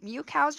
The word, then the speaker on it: MewKow: else I've noticed so mu cows your name which kinda rhymes with meow which is the sound